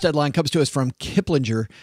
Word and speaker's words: Kiplinger: First headline comes to us from Kiplinger. I never know if is it Kiplinger or Kiplinger. I prefer the soft G.